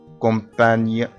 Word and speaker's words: campagne: قلنا قبل كده ان الجي ان تنطق ني كومباني كومباني.